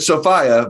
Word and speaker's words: Sophiea: it's a different spelling i said sophia but make sure that you spell it out for him lebanese it's